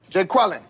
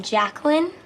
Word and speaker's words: Jacqueline: Because it's pronounced Aaron? Son of a... Jay Quellen. Where's Jay Quellen at? No Jay Quellen here? Do you mean Jacqueline?